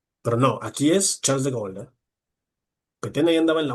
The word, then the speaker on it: de Gaulle: Este es Charles de Gol. Lo mencioné muy rápido, pero es Charles. Se escribe de Gaulle, pero es Charles de Golden.